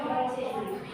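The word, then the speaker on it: Modjo: Mojo kalau zaman dulu itu J ditulisnya DJ. Bacanya Mojo.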